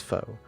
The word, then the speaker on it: faux: I don't know if it's faux, if it's false, or if it's false. I think it's faux. It's faux.